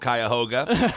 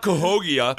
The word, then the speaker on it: Cuyahoga: i was really hoping you were going to mispronounce cuyahoga falls because i know that it's called cuyahoga and i was going to be like no it's not cohogia or whatever you were going to say it's